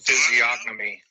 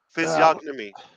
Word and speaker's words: physiognomy: Oh, there's no G. See, now Key said it one way and Robin said it the other. Who's right? Now, she's got the English accent. What is that? Robin is always right. Robin is always right. So physiognomy. Okay. Physiognomy. Physiognomy. Physiognomy. G silent.